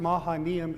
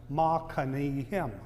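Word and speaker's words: Mahanaim: It's pronounced Mahanam in English, but in Hebrew it's pronounced mahanim.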